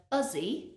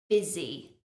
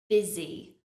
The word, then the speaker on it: busy: people pronounce this word Buzzy because they see the u letter but that U is pronounced as an i i busy busy the S is also